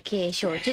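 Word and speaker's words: 景勝地: て書いて景勝地って読むんですけ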